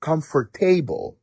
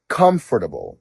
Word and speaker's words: comfortable: вимова наприклад слово comfortable багато хто вимовляє його як comfortable але правильно comfortable